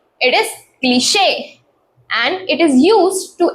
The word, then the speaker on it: cliché: Word करते हैं यूज cliché. Next, we have debut, which is a French word.